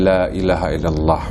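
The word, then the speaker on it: لا إله إلا الله: dzikir La ilaha illallah wa madaha ya dipanjangkan bacanya lailahailallah Oh dibacanya dipanjangkan ditancapkan ke dalam hati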